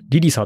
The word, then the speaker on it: 誘惑: なんですけど誘惑って書いてリリサって読むらしいんですけどえっと 2.5